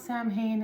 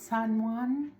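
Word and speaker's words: Samhain: It's not Sam Hayne. It's San There.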